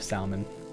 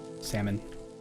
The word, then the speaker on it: salmon: So I love salmon. Salmon. Salmon. Salmon. I don't I don't know why I'm pronouncing it that way. I don't know why I'm pronouncing it salmon like Salmonella.